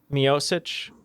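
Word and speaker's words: Miočić: Mioich.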